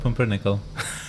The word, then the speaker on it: Pumpernickel: What do you miss outside of pumpernickel?